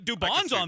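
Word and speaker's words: Dubón: talking about DB who who's duban like Dub's on this team not Dubin yeah I could see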